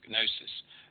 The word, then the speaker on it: gnosis: Because it's based on the Greek gn sound, like that, which is, can you hear that? Gnosis, like that.